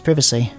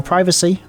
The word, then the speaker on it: privacy: We'd be invading the other's privacy. Or privacy. Depends on how you say it. Some people say both, some people say one or the other.